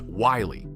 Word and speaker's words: Willie: His name was Willie Jones, pronounced Wiley, which is not a bad description of the man.